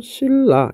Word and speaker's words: 신라: 자, 예를 들어서 우리 신라 이런 거 보면 발음하면 어떻게 돼요? 신라 이렇게 됩니다. 자, 신라가 신라가 됩니다.